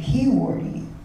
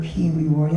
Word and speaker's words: Pewewardy: And I knew his father as Dr. P. Wardy. Like, people called him Doc P. Wardy. And when I heard of Dr. P. Wee Wardy, I'm like, who's that? But the name changed, see? Even our own people changed that name because of this lateral oppression.